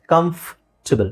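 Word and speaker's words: comfortable: ಕಂಫರ್ಟಬಲ್ ಅಥವಾ ಕಂಫರ್ಟಬಲ್ ಕಂಫರ್ಟಬಲ್ that's wrong ಇಲ್ಲಿ ಓ R silent ಆಗಿರುತ್ತೆ ಕಂಫರ್ಟಬಲ್ ಕಂಫರ್ಟಬಲ್ ಕಂಫರ್ಟಬಲ್ ಅ ಸ್ವಲ್ಪ ಸೌಂಡ್ ಬರುತ್ತೆ ಅದಕ್ಕೆ ಇಲ್ಲಿದೆ ನೋಡಿ ಇಲ್ಲಿ ಕಮ್ ಅಂತ ಇದೆ ಎಫ್ ಆದಮೇಲೆ ಡೈರೆಕ್ಟ್ ಟ ಇದೆ ಕಂಫಬಲ್ ಕಂಫರ್ಟಬಲ್ ಸೋ ಕಂಫಬಲ್ ಓಕೆಇಲ್ಲಿಆ ಆರ್ ನೀವು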